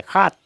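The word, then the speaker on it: সাত: असमिया में 7, 7 को हम खात कहते हैं। इसका लिखते टाइम में लिखेंगे 7, लेकिन उच्चारण करते टाइम में हम इसको खात कहेंगे, खात, खात। स का उच्चारण ह होता है, खात।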